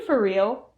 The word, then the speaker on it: for real: For real reduces so that the R sound in for and the R sound in real combine into one R sound.